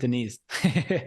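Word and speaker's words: Deniz: from he's from Turkey it looks like Dennis but it's Denise I knew it was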